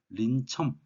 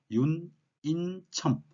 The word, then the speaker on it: 윤인첨: 그래서 이제 비늘 린자와 볼첨자이기 때문에 린첨 이렇게 발음은 하지 않겠죠. 그래서 윤인첨 자, 그렇게 이제 발음을 하는데요.